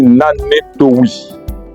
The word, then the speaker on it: Nanetowi: Quand on veut dire bonjour, on dit Nanetowi.